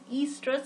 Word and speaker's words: estrous: Estrous cycle. O is silent here, so we will call it as estrous cycle, right?